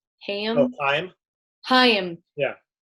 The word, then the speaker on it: Haim: Is that how you pronounce it? Haim? I believe it's pronounced Heim.